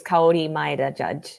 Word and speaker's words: Kaori Maeda-Judge: interested too yeah my name in japanese is kauri maida judge oh my god i mean people can pronounce it but it's just you know it's